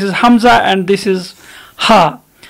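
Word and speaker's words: ح: You don't have exactly there in English, as if we see Ha in English, it is pronounced and its position there is very above where we produce Ha there in Arabic language. It's there above near to mouth there when we produce English Ha.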